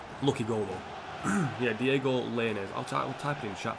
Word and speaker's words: Lainez: Lainez. So his name's Diego, as you would spell it.